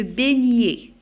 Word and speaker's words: beignet: Beignet, la même chose, on a B, E, I, ça prononce E. Beignet, E, T, se prononce E.